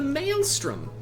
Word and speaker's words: Maelstrom: you a hint what begins with an M sound and rhymes with Alstrom give up I'll tell you the Maelstrom a kind regular here